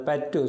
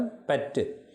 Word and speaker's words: பற்று: பற்று இரட்டித்து வருகிறது டி போல் இருக்கிறது. பற்று சொல்லி பாருங்கள். பற்று. கற்பு உப்பென்னாக முன்னாலே இருக்கிறது டி போல ஒலிக்கிறது.